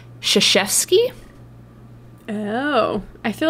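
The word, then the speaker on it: Krzyzewski: i and i said krazewski apparently that is not how you pronounce that last name you do not pronounce it phonetically in the english you know way it is pronounced shishevsky oh i feel like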